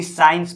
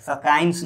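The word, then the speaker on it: science: उसी तरह देखिए एस के बाद एस सी है तो इसको भी साइंस पढ़ा जाता है, सकाइंस नहीं पढ़ा जाता है, ठीक है।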